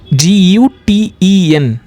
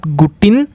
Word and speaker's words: Guten: G-U-T-E-N. We call it as not Gutin. We call it as Guten. Okay. E we call it as A. Guten.